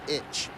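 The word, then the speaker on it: いち: that's Rock to itch the number six is rock and the number one is pronounced itch one two and the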